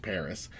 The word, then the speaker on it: PVRIS: worlds was sung by an artist named paris p v ris that's how it's pronounced paris but pvris was sung by a singer called